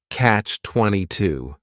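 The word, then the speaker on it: Catch-22: it's a compound noun the word catch is just one syllable and then 22 is three syllables and the stress is on that final syllable Catch 22 the word comes from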